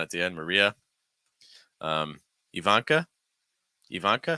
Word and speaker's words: Ivanka: the end Maria um Ivanka Ivanka start off with the E then van then Ivanka stress that uh second syllable Ivanka and Elena Elena